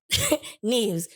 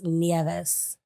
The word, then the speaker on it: Nieves: wrong yes it's in in Scottish you said it right knes but in Spanish we enunciate every every um vowel so it's neeves neeves yes but it's